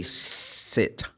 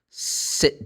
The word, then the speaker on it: sit: You should say sit. Sit down. Pay attention to the difference. Pay attention to the difference. I say sit down. Sit down. This is a command, of course. It's should sit down, please. Sit down. So the person sits. Sits. But I can use the noun. Oh, please come over here and have a seat. Now I'm using a different sound.